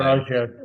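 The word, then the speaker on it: Araújo: Araujo.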